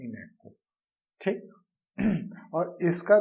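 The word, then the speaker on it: ENIAC: गलत लिख दिया है इसका नाम है इनेक ई एन आई ए सी इनेक ठीक है तो इलेक्ट्रॉनिक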